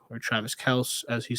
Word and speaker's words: Kelce: He's not your Travis Kelce or Travis Kelce, as he said to pronounce his name.